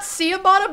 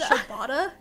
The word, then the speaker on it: ciabatta: It's got ciabatta bread, and then the guy, he'll, like, toast